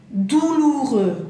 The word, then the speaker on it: douloureux: Douloureux, esa palabra, douloureux. Douloureux, doloroso, ¿ya? ¿Cómo se dice la palabra? Douloureux, termina en X, ¿bien? X no la pronunciamos y entonces termina EU y dijimos que el sonido E, E, douloureux.